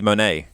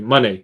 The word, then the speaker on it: Moné: Mercedes Moné. Right. And I that's what I thought because of the accent on the E. Yeah. I think it's Monet, not Monet, money, like money, you know.